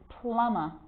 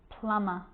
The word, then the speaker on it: plumber: with the letter b it's always silent when it follows the letter m climb crumb lamb thumb dumb and plummer so practice them with me i'm not pronouncing the b i'm just pronouncing the m consonant sound climb crumb lamb